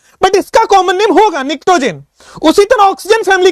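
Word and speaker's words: pnictogen: निक्टोजेन इसको बोलते हैं, पी साइलेंट है, निक्टोजेन।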